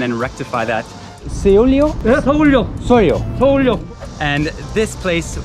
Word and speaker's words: Seoullo: I'm sure I'm not pronouncing that right, but maybe we can ask someone and rectify that. Seoullo? Yeah, Seoullo.